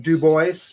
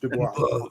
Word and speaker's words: Dubois: Some people pronounce it Dubois, but it's correctly pronounced Dubois. It's very French sound, isn't it?